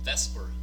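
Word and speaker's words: VSEPR: theory that will get us there is called Vesper theory or the Vesper model it's pronounced best for even though it's spelled separate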